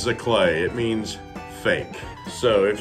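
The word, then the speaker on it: giclée: no g i c l e e it's pronounced as a clay it means fake so if you ever see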